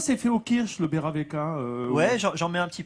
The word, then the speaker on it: Baerewecke: Oui, c'est beurre avec.